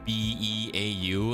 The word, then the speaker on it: Beau: because it's French and it was spelled like B-E-A-U, and I was like, is that pronounced like Beau or something like that? But no, apparently it's pronounced Beau, and so he's like 9 months old and he's like tiny.